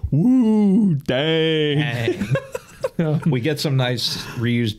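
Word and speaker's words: Wudang: in Kung Fu and Wu Dang. And there's no mention of that ever in the rest of the episode. You pronounced it wrong. It's woo dang.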